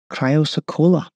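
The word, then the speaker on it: chrysocolla: The dial is made from a silicate mineral and is pronounced cryosocola.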